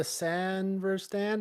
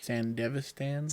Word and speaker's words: Sandevistan: No, it's and I can't ever pronounce it. The Sanverstan, whatever it's called, the military grade tech. Sandevistan.